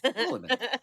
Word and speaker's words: Palahniuk: I believe, is the Paula, like Paula and Nick, your friendly next door neighbors. Paula is my mom's name, so yes. Polinick.